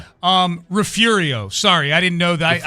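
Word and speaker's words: Refugio: Um Rafurio. Sorry, I didn't know that. I mispronounced it. Yeah, the G is pronounced like an R.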